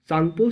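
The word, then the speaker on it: Tsangpo: तो ये STSZ है, यानी कि इसको बोला जाता है सिंग सांगपो स्विचर जोन। तो ये जो टी है ना, टी जो है ये साइलेंट होता है, इसको सांगपो बोला जाता है, सांगपो।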